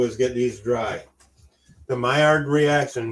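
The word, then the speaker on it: Maillard: get these dry the myard reaction myard reaction I I think the D is silent but I'm just going with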